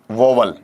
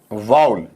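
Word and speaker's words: vowel: और डब्लू ई एल इसका उच्चारण अमूमन हम यह कर देते हैं कौन सा वोल या कुछ लोग इसे ऐसा पढ़ देते हैं वोल लेकिन लेकिन बड़े मजे की बात है कि ये दोनों ही टुकड़े क्या है आपके वहां पर गलत है यह पढ़ना भी गलत है यह पढ़ना भी गलत है इसका जो सही या शुद्ध उच्चारण होगा यह उच्चारण आपका बनेगा वाउल क्या बनेगा आपका वाउल और अगर आपसे कोई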